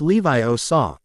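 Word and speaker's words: Leviosa: "You're still saying it wrong," Hermione said, unable to help herself. "It's Levio saw.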